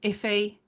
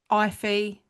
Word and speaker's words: Ife: Ife because it's spelled IFE. Some people call them Iffy, Ify. I've heard all sorts of pronunciations, but I think it's Ife. The Ife family were a well respected, or they are a well respected family.